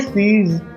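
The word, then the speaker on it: seize: ये सीज इसको ज पढ़ेंगे सीज़ सीज़ का मतलब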